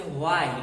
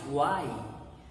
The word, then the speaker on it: why: The words beginning with WH here, H is silent. You are not to say why, it's why.